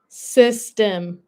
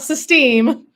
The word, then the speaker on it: Systeme: Not system, but system. system. You have to have that little You have to have that like uh little bit of a pause there, huh? System. So, the accent is on the right part.